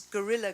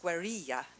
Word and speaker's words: guerrilla: called it my colleagues gorilla gardening which is not the hairy gorillas who kind of live around trees but i i understand in spanish it's pronounced guerrilla gardening and it's actually a